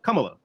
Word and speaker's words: Kamala: You know, but about the development thing, I think it's a little different with Kamala because it Is there a seems reason why we keep calling her Kamala instead of Kamala?